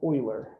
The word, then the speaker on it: Euler: his name was greg it's his name is pronounced euler um so euler what he did is he solved a lot